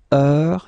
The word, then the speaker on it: heure: All right, so heure, you write it like that. Remember, H is not pronounced, okay?